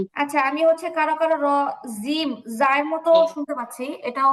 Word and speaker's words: ج: আবার বলছে জিহ্বার আগা থেকে বলবেন না, জিহ্বার আগা থেকে বললে জিম হয়, এটা চিকন শোনা যায়, বাংলা জয়ের মতো শোনা যায়। আমাদের উচ্চারণ জিহ্বার মাঝখান, জিহ্বার মাঝখান, জিম, জিম।